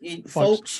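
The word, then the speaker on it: Foulkes: I never know how you say his surname. How do you say it, John? Folkes, you did right.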